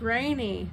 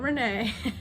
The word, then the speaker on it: Ranee: Her name's Ranee, not Renee.